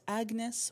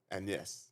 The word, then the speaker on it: Agnes: Her name is Agnes, but it's Agnes where the G is silent. Agnes.